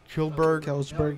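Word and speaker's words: Kjellberg: Kelsberg, yeah.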